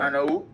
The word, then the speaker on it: あのう: Y también en este caso, ano-u. Es correcto lo que escribe U, pero U es como no tantos fuertes.